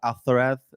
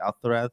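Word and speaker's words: Alcaraz: Alareth. Yeah, because he's Spanish. That's how you say it. Alareth.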